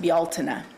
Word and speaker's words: Bealtaine: It is our way of celebrating the pagan holiday of, it's spelled like it's pronounced Beltane, but in the Celtic language it's pronounced Bealtaine. So Bealtaine is also called May Day.